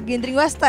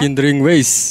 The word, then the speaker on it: Gindring Wasted: Gindring Wasta ya? Gindring Ways. Oh, Gindring Ways bacanya, oke.